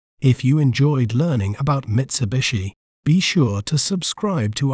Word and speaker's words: Mitsubishi: word to better understand its pronunciation we may pronounce it as Mitsubishi Mitsubishi MIT Su B shei Mitsubishi Mitsubishi has diverse